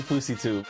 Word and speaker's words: FouseyTUBE: It's actually FouseyTUBE.